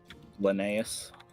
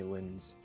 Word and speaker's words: Linnaeus: Linnaeus. Linnaeus. Yeah, because all Americans say Linz.